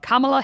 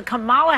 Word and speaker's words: Kamala: kamalama dingdong it helps you know that it is pronounced comma as most of you